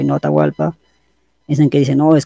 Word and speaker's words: Atahualpa: es guay es lo pronuncian baja así que atahualpa sería la pronunciación como atahualpa y hay otro detalle que los españoles europeos